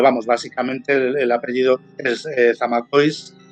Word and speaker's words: Zamacois: Porque este apellido es de origen francés, pero yo no sé si está españolizado. Zamacois, supongo, ¿no? Zamacois, porque además de hecho es de origen vasco-francés.